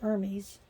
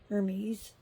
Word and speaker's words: Hermes: the Greek her Hermes Hermes Hermes I should say the H is not pronounced in Greek so yeah but she